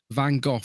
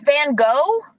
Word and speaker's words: Van Gogh: But I would say Van Gogh didn't paint one picture in one go.